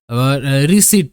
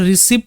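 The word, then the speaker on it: receipt: NG link ceiling ceiling রিসিট দেখো এটা রিসিপট নয় হ্যা পি এখানে সাইলেন্ট থাকে রিসিট মানে কোন রশিদ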